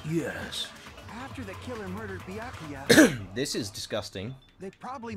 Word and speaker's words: Byakuya: Why was Byakuya's body It's pronounced Byakuya.